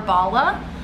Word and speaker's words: Bala: excited thank you bala i think it's bala bala bala b-a-l-a is how it is pronounced but these are the